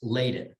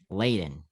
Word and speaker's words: Ladin: just so you know it's pronounced laden laden yeah thank you thank